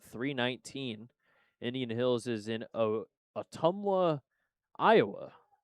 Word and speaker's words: Ottumwa: Indian Hills is in Ottumwa, Iowa. Ottumwa? It starts with OTT, so it's definitely Otters related. It's near the Iowa-Kansas City border. Ottumwa. Ottumwa. That's how you say it.